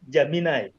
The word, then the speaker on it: Gemini: So it's Bida, also a generative they pronounce it as Gemini. Gemini. Gemini, yes. Yeah, okay, yes.